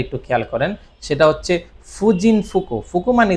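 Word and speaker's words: 婦人: এরপরে হচ্ছে কি আপনার হচ্ছে ফুজিন মানে হচ্ছে এই কাঞ্জিটার এখানে হচ্ছে উচ্চারণ হচ্ছে ফু।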